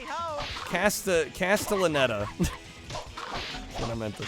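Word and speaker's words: Castellaneta: Dan Castanella does the uh the Hercules. Oh, really? Hideyhoy ho. Sorry, I totally butchered his name. Ho. Casta. Castellanetta.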